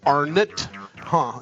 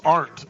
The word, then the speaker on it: Arendt: His name is spelled, sounds like Arendt, but it's Arendt is how you pronounce it. Is that correct?